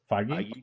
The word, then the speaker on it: Feige: After it was intentionally and unintentionally leaked, and then despite them saying that they weren't going to have a Spider-Man trailer, Kevin Feige did say that they were going to have one.